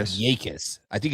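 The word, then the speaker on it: Jacas: The J is silent. I knew that J was silent, but I thought it was like a Y or something.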